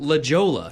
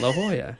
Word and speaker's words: La Jolla: L's on all the street signs, and I'm pronouncing everything La Jolla. La Jolla. And things like that. Yeah, La Jolla.